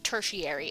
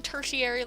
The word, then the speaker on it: tertiary: red hairy colors but or tertiary i always say it wrong i always say it like hereditary but with a t at the front because that's how my brain interpreted it the uh the first time i read it and now it's always stayed that way so here i am saying tertiary like hereditary that's definitely not the correct way to say it and i keep